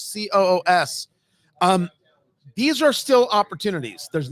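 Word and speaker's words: Coös: And this Rockingham County, Sullivan County, Grafton County, and then up here in, I think it's pronounced Coos, Coos.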